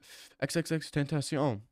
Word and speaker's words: XXXTentacion: XXXTentacion. That's his name. It's not XXX ten tent tenac tentacion.